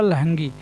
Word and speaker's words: लहंगी: तो लहंगी को हम याद करेंगे लहंगी, ये सही इसका प्रोनाउंसिएशन होगा लहंगी।